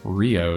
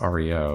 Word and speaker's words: REO: monogram no this is rio speedwagon when you're talking about the actual automaker it's pronounced rio if it's the band it's reo yeah we learned that